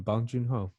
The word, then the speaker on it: Bong Joon-ho: me he said it right the last time bong joon-ho there you go so every time I since